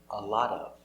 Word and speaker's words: a lot of: lot a lot of pronounce a lot of not a lot of but pronounce like one word a lot of a lot of repeat